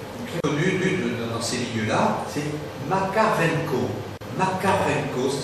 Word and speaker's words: Makarenko: maître d'œuvre, très connu dans ces milieux-là, c'est Makarenko. Makarenko, ça s'écrit M-A-K-A-R-E-N-K-O.